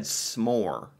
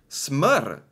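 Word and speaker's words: smør: face so this I I would have said smore but this is SM SM is that right SM Smur it's more of an Ur Smur I I think okay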